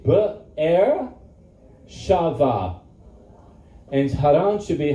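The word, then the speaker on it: Be'er Sheva: Beersheba is not Beersheba. It's Be'er, say Be'er Shava.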